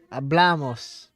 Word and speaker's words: hablamos: So with amos, we're adding on 2 syllables and the accent is going on the second last syllable. So it's in a different position, the accent, to the other versions.